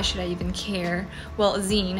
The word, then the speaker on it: zine: i even care well zine it's pronounced like the ending of a magazine it's to really share